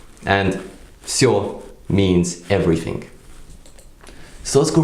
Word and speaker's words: всё: Then we can take a word like всё, which is once again is pronounced with a F at the beginning, but it's written like всё with a V sound.